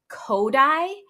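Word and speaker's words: Kodály: great kid songs um kodai which is not spelled like it sounds at all it is spelled k o d d-a-l-y kodai is a method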